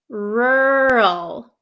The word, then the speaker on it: rural: for you okay so this word is pronounced rur rural do you see how my mouth doesn't really open or doesn't really move around round that much okay rural rural rural okay